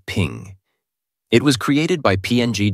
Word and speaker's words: PNG: portable Network graphics and is pronounced as ping it was created by